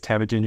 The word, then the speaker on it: Temujin: back um as you said my name is tagin your pronunciation was excellent and IP of marketing at